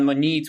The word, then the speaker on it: Monite: domain is available and monit was basically the original pronunciation so connected to money scalable fch topic flexible enough for all sorts of like business changes now when we brought it to Market and we started speaking to people it quickly became monite and we were like okay so then it's monite nice and over time we actually ourselves are switching to monite I think that's that's actually the correct way of pronouncing it but uh okay it